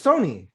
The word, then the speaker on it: Sony: It Sonny Michael? No, it's Sony. You said Sony.